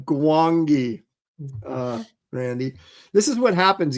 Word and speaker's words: Gwangi: But still, as you're a young kid, Howell wants to know how you pronounce it. Is the G silent? Wow. No, yeah, it's the Valley of Gwangi, Randy.